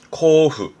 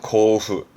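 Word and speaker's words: 交付: 발음은 코후. 뭔가를 나눠준다. 교부한다 그러죠? 고후.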